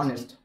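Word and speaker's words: honest: I need to বি I need to বি অনেস্ট অনেস্ট ঠিক আছে এইচ এর উচ্চারণ এইচ এর পরে যদি ভাওয়েল থাকে তাহলে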